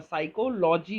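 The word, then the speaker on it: psychology: ये साइको वाला में पी साइलेंट होता है और एस वाई होता है, साइकोलॉजी होता है, एल ओ जी वाई।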